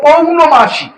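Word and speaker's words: পৌর্ণমাসী: এই দিনটাকে বলা হয় পৌণমাস। প্রত্যেক মাসে এটি করা হয়। এটাকে পৌণমাসী। এই এখানে মাস উচ্চারণ করতে হবে পৌণ মাসি পৌরমাস তিথ সংকল্প বাক্যে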